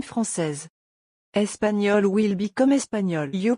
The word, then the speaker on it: française: Tip, if you're a woman, you have to add to some nationality and the will also be pronounced. Like, français will become française.